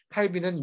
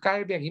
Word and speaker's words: 칼뱅: 이때 칼뱅은 안나게 어제가 칼빈 이라고도 하고 칼 병이라고 타고 자꾸 해서 죄송한데 칼빈은 이 영국식 발음이 고 칼 칼 100 은 원래 법학 사람이 깔 병이 맞겠죠 예 자 차 105